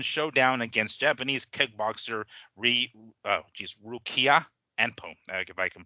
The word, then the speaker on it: Anpo: not really, exhibition showdown against Japanese kickboxer Rukia Anpo, if I can pronounce that right. His last name is Anpo, A-N-P-O.